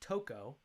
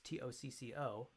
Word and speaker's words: Tocco: Trained there with Johnny Tocco, whose name is actually pronounced Tocco. It's Tocco, nice Italian name.